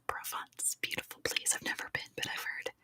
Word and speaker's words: Provence: ravinder and such um it's not called the Providence fear but I know what you're trying to